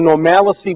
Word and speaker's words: normalcy: It's called the Normalcy Bias. Normalcy. And I think it's pronounced normalcy because there's no I in the I-C-Y, bias.